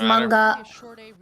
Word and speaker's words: manga: Wait, is it manga or manga? Like a mango? It's manga.